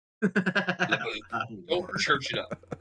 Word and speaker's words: LaBeouf: It's pronounced Guaranteed. Lebu. LaBeouf.